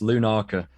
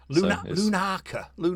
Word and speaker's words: Lunarca: ] it up yeah loads of people like mispronounce it it's lunaca lunaca yeah yeah it's quite a weird way of